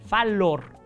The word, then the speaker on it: fallor: Falible viene del latín fallor, se escribe con doble L, o sea, fallor, se pronuncia falor.